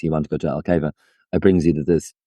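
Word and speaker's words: Alqueva: of these, like especially around how do you pronounce the lake again? Because it's such a funny word. Alcava, Alcava.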